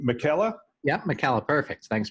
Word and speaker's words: Michela: how do you say your last name Michela yeah my Calot perfect thanks Bill perfect life